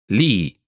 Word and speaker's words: Lee: Finally, Mark's family name, Lee, pronounced in Italian. Lì.